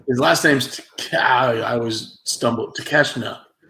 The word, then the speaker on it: Takeshita: Takeshita. There's no N. See, that would throw me off.